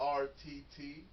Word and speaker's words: Arttacgo: Arttacgo. The C is silent.